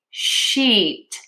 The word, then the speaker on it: sheet: and the i, then you need to do e long and tense for sheet versus sit. My mouth is more relaxed for that short I sound.